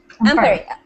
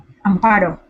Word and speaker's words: Amparo: Ampari. Okay, person. I keep saying your name wrong. It's Ampari? Amparo. Amparo. Amparo.